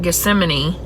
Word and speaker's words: Gethsemane: Gethsemane, I think is how it's pronounced. Located. Maybe it's guest man. I don't know. I keep saying Gethsemane, but I don't know. Where is the garden of Gethsemane? Guess I don't know. Located. Oh, I said it right.